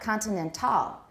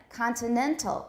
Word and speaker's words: continental: into each other directly it's not continental that sounds french it's not like that but continental continental it's in the middle of this it's the what do we call that syllable we mentioned in class before it's the penultimate syllable anti-penultimate right so final